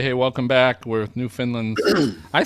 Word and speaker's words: Newfoundland: ago, and they said if you say "understand Newfoundland," is that close, or what's the good way to remember how to say it? That's it. That's how you say it. That's it. Yeah, Newfoundland. Like understand Newfoundland.